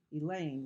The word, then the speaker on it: Elaine: Elaine rhymes with pain.